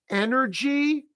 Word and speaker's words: energy: So this word is energy, three syllables with the stress on the first syllable. Energy. So it's the angry dog vowel sound. Think of an angry dog. Energy. That final Y is a high E.